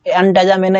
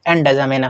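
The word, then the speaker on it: एनजामेना: है चाड की राजधानी अ एनजा मेना या अजा मेना प्रोनाउंस एनजा मेना होता है है ना तो ये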